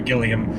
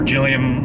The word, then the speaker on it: Gilliam: director uh terry uh terry gilliam or jillian i think gilliam i think it's a hard g yeah but he's done